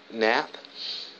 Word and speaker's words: Knapp: in projects Alexis Alexis Knapp her name spelled with a k in a PP so I think the case is a little silent play by you know